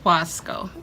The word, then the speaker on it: Wasco: how do you say this stuff? Wasco? Wasco. Yep. Wasco.